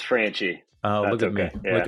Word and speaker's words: Franchi: at sales boomerang and my guest is frankie president at gold star mortgage did i pronounce the last name right uh close it's franchie oh look at me look at me yeah